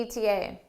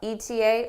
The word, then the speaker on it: ETA: the ETA what's the ETA now ultimately either way that you pronounce it the ETA or the ETA is fine now you're probably wondering